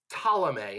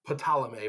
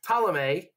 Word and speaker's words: Ptolemy: you think it's like Ptolemy, but it's like pterodactyl. You don't pronounce the P, although some of you were probably like, but I call it pterodactyl. No, Ptolemy gets Egypt.